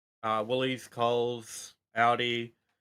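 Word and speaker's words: Aldi: Audi. Because I hear you say like Audi like the car brand.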